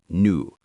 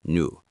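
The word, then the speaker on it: nous: That is new. That is n o u s. You don't pronounce the s, just new.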